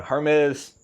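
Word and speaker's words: Hermès: But yeah, Hermes, said it right this time for y'all.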